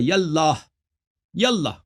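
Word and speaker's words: يا الله: تو یہ جب یا کہیں گے تو اس کے ساتھ یہ الف کے تلفظ نہیں ہوگا، یاللہ.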